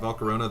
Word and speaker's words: Volcarona: might argue that Volcarona oh that's how you pronounce it Volcarona the bug and fire type Pokemon is the